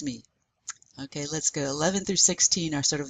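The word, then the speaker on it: onze: That O-N is nasal, so you want to feel that in your nose. 11.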